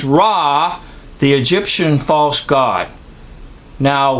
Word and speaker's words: Ra: you get our a so raw our aw sounds the same as raw the Egyptian false god